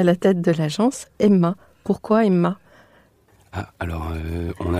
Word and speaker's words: HEMAA: au nom de l' et sous la bannière Emma puisse s'associer facilement alors je précise ça s'écrit h e M a a voilà voilà